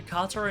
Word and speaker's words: katar: training also noticed how I pronounced the katar and not Katana that's right there was